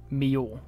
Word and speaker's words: Millau: back to about that it's not pronounced milao it's pronounced Mio or something more like that I'm sorry I I